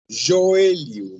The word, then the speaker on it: joelho: Joelho, gente. Joelho. Joelho. Cuidado, joelho. Não tem nada a ver com como se escreve em espanhol.